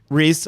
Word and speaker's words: Rhys: festival yeah timothy uh is it pronounced uh ryze uh he's the publisher rhys oh okay publisher and